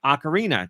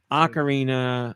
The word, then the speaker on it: Ocarina: Uh Zeldude was bringing up Ocarina.